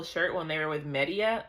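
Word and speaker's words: Medea: Like, oh, when they found the purple shirt when they were with Media, I think that's how you say her name. Medadia. I keep want to say Medadia, but I think it's Media.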